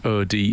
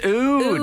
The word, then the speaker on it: oud: o WD o w d oh okay um oud how is it oud yes cuz you're so poetry I thought you were saying o d e OD OD to W in the black